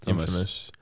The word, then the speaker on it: infamous: But yeah, how's famous is pronounced famous, but when you put in front of it, it's infamous.